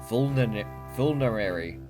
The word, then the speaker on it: vulnerary: Vulnerary. As in vulnerable and a dairy. Vulnerable dairy.